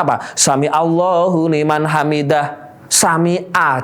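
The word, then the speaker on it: سمع: Sami'a jadinya harusnya ain, ya kan, ganti hamzah.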